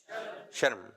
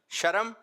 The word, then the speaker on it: شرم: کچھ لوگ کہہ رہے ہیں شرم اور کچھ لوگ کہہ رہے ہیں شرم. صحیح تلفظ کیا ہے؟ شرم. کیا ہے؟ شرم. شرم غلط ہے.